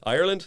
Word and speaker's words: Ireland: You have to say the word ire like something you really don't like in land, you know?